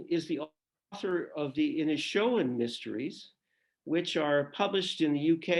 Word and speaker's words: Inishowen: be called Donegal, the Inishowen Mysteries. Any word as to when that will come out, Andrea? Well, firstly, it's Donegal. You pronounced Inishowen perfectly, but Donegal is Donegal, County Donegal.